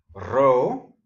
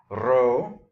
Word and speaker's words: rho: Rho. You don't have to roll it, but it's cooler if you can. Rho.